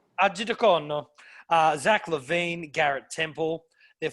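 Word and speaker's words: Arcidiacono: who's on two-way, Chandler Hutchinson, Zach Norval, Ryan Archidichian. I struggled. Did you know how to say his name? Archidiacono.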